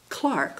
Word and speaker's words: clerk: he was a bank clerk I'll use the the English pronunciation A Bank Clerk and at the time